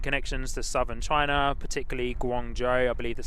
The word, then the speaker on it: Guangzhou: The design symbolizes the airline's roots and connections to southern China, particularly Guangzhou, I believe that's how you say it, where the kapok flower is the city flower.